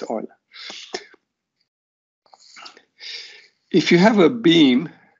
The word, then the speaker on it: Euler: So Germans pronounce his two first letters as Oi. So his name is not Euler or something, it's Euler.